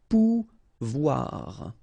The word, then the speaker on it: Pouvoir: sound OU, okay, and when you combine this O and I here, you get the sound OUA, okay, so pouvoir, pouvoir.